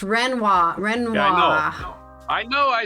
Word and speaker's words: Renoir: Renoir's hearts revealed very famous for painting women actually very nice refined paintings of women reor looks like Renoir it's just Renoir Renoir I know I